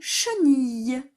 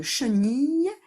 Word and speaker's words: chenille: Et enfin, on a le mot chenille. Et à la fin de chenille, il y a un E muet.